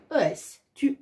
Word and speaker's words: est: Alors, ça se prononce de la même façon que le tu, sauf que cette fois-ci, on rajoute un T à la fin.